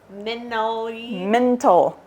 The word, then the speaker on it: mentally: Meant to add a T to that. Mentally. Mental warfare. It's 3 syllables, Mom.